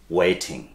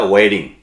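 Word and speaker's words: waiting: কে তোমার জন্য অপেক্ষা করছে কি হবে, হু ইজ ওয়েটিং। আবার আমেরিকানরা ওয়েডিং, অনেকটা টিয়ের উচ্চারণটা ডিয়ের মতো করে ফেলেন কিন্তু, ওকে।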